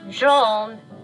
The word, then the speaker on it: Gene: me about Gene hello it's pronounced Jean he was killed by